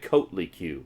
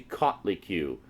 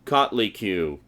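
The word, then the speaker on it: Coatlicue: the the cutley q I know it looks like coat li q but it's actually caught li q and the reason I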